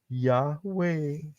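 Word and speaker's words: Yahweh: wau He nah kalau Yod he W he Bacanya apa enggak lain adalah yahwe begitu silakan punyanya Hana Eva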